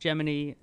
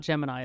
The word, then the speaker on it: Gemini: It's pronounced Geminy, not Gemini, it says.